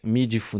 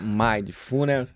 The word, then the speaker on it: mindfulness: formas né eu mesmo já te falei e meful mindfulness mindfulness exato Qual que é a pronúncia correta seria mindfulness mas ninguém é obrigado